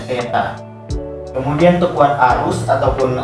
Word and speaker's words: theta: Jadi ini bacanya theta.